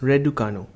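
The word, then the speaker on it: Răducanu: of her family name in romanian is radukanu pronounced radukanu she attributed her mentality and ethics to her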